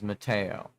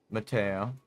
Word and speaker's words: Matteo: Matteo. Knock. Matteo. Why does it Why do I pronounce it like that? Because me and my family are Italian.